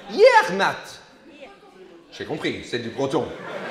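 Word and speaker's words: Yec'hed mat: Yermat. Yermat. Yermat. Santé! C'est comment ça? Ouais, comme au train, mais comment vous le prononcez? Yermat.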